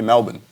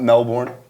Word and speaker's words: Melbourne: So we flew together from Sydney back to Melbourne. But I like how you say it, Melbourne. if you've been to Australia, you say Melbourne the way everyone else says Melbourne. It's not Melbourne, it's Melbourne.